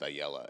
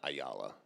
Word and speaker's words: Ayala: Uh, how when did you guys learn that it was actually pronounced Ayella and not Ayala?